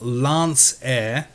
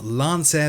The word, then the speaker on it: Lancair: this little beauty is the real air simulations Lance air see I said it right that time Lance air Legacy version 2 and I cannot wait to